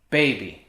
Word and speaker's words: bebé: i found there is beb he drinks and babe right so like the baby drinks from the